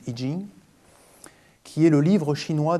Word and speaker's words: I Ching: Au départ, le I Ching ou I Ching, on prononce l'un ou l'autre, les Chinois disent I Ching, qui est le livre chinois des changements.